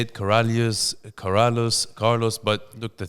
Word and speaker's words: Karaliazus: my name yeah correct Corrales Corrales but you can just say k you could say Carlos like uh you know a lot of my Arab friends when they just see that name they just go like Carlos yeah because when I